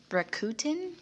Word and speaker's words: Rakuten: I'm going to pronounce this wrong. Rakuten?